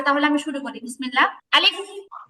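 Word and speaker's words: ألف: আলিফ?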